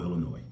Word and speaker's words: Illinois: I look at the city of Chicago, Illinois, and I know you're not supposed to pronounce the S, Chicago, Illinois.